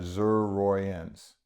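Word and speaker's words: Xerogeans: Uh Zur Roy's and it's spelled a little It's X E R O G E A N S.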